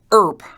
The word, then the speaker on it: IRP: when an upperclassman yelled Erp IRP in your ear pronounced like Wyatt's last name that was short for